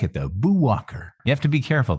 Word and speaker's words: Boo Walker: nomed plume of yours boo Walker and when one pronounces it one must must pause between Buu and Walker because otherwise you get this Bo Walker thing Bo Walker this is